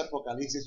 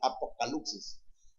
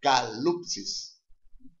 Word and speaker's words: apocalipsis: Hay mucha gente que me dice, ¿usted por qué pronuncia? No dice apocalipsis, sino apocalipsis. Porque ya me acostumbré ya a pronunciarlo en griego, así que se pronuncia apocalipsis.